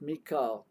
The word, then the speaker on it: Michael: the British Realms of Malu his name is pronounced Mika repeat it until you feel that you have